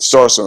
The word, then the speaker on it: Starsona: How you say it's Starsona, like persona, but Starsona.